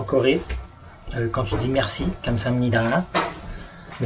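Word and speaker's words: 감사합니다: Mais, Donc, en fait, en Corée, quand tu dis merci, kamsamnida, mais il faut vraiment le dire avec l'accent là. Le A est très prononcé.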